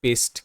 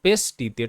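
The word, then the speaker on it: paste: তো পিতে প এ এস টি ই এস্ট হচ্ছে পেস্ট, কিংবা এ এখানে একার হিসেবে উচ্চারিত, তাই পি এ পে এস্তে স পেস টিতে ট পেস্ট, আর শব্দের শেষে ই এখানে সাইলেন্ট থাকছে এরকম ক্ষেত্রে।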